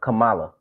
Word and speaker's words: Kamala: like the like uh Kamala I have to say her name right I always say it wrong and and when somebody told me how to say it right uh they was like think Masala but anyway uh she